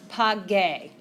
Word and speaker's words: pagué: What happens to the letter G when it's next to the letter E in Spanish? Sounds like an H. So in order to maintain that hard G sound, we have to throw in that U.